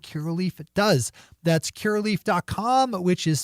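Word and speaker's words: Curaleaf: right things that key relief it does that's Kerr leaf calm which is spelled see you are a L e AF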